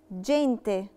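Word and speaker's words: gente: جينتي، جينتي اتنطقت جي دولتشي، اتنطقت جي علشان لا لتر اي، قاعدة لا لتر اي بتخليني انطق الجي جي دولتشي فبقت جينتي.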